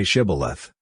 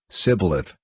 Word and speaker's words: shibboleth: they said all right say shibboleth if he said sybilith because he could not pronounce the word correctly they seized him and killed